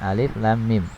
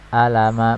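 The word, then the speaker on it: الم: Bukan dibaca dengan misalnya alama, bukan ya, tapi dibaca dengan huruf penyusunnya. Jadi cara membacanya adalah seperti ini. Alif lam mim ya, dibaca 6 harokat ya, kecuali alif.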